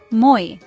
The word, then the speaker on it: moi: Moi is pronounced just like the English word moi, with emphasis on the first syllable.